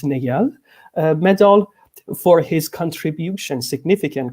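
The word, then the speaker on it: Néel: lot femke fossipol for correcting my pronunciation of niel i used to call it neil but i found it's negal medal for his contribution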